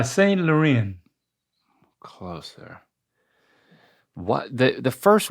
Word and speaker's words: Laurent: You need to say it with a French accent. I think that will help you. Oh, a French accent. Y Saint Lauren. And they don't say the T's. The T's are silent. Y luren closer.